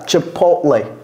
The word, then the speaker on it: Chipotle: or Fountain okay so this tea chipot chip Chipotle take this Chipotle Chipotle Chipotle Cody say it